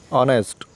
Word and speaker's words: honest: तो H इसमें silent है, हम इसको क्या पढ़ेंगे, Ashraf is poor but ही इज़ ऑनेस्ट।